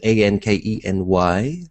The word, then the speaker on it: Ankeny: ankeny is a-n-k-e-n-y this will be available at the website am i saying pronouncing it correctly like a native yes anthony ankeny um just